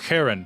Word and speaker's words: Charon: at describes it as starting to make a k sound but not finishing it so it's more like an H but like an aggressive H I'm gonna try to